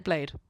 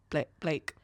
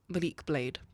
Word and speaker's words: Malik Blade: Blade. Oh, I'm so sorry. What did I say? Blake. Blade. I believe it's Malik Blade.